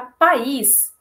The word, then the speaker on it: país: Já país, eu tenho duas sílabas, porque esse is, ele é acentuado.